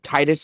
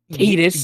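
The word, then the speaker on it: Tidus: both are great uh Titus is tight it's not Adidas yes because surprise surprise everyone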